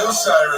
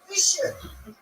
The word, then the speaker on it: Wilshire: I think Wilshire is where Magneto's parents were murdered. Everybody says Wilshire. It's Wilshire.